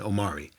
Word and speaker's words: Omari: saying that what uh rhyming with sorry is the middle name of yay which is the first name of your new double bowlegged friend omari yay's middle name uh-huh